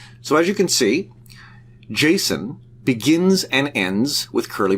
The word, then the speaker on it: JSON: Some people pronounce it JSON. I call it JSON.